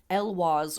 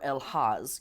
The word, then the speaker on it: elhaz: we can work with the Rune elw or elhaz e l ha a z and this connects to